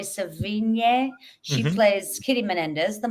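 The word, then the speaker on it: Sevigny: very effective and um Chloe SE seon how do you say it no San but Chloe svin she plays Kitty Menendez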